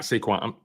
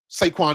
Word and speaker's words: Saquon: But I It's funny because I don't I hate when people say it like that because that I'm sorry, not Seaquin.